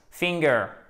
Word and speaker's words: finger: Finger, le doigt, facile. Accent tonique sur la première syllabe.